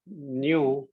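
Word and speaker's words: ν: न्यू, न्यू मतलब नू, नू ये जो स्पेलिंग है उसका प्रोनाउंसिएशन न्यू।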